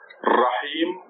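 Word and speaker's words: الرحيم: And the last word in this verse is Ar-Rahim. There is Alif. There is Lam. There is Ra. With the shadda and the fatha. So mix it the stress on the Ra. Rahim.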